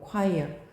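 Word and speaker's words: choir: 발음이 콰이어야 이거. 발음이 초 아니고 콰이어.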